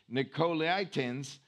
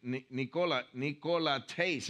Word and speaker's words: Nicolaitans: way and then I'm going to say it the right way, Nicolaitans, which I also detest. So that word is Nicolaitas. I guess that N is silent, but Nicolaitas is how you say it.